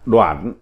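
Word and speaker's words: 短: Chữ 162, chữ đoạn, âm Hán Việt đọc là đoạn, nghĩa Việt là ngắn, đối lại với trường, như đoạn đao là dao ngắn, đoạn mộng là giấc mơ ngắn ngủi.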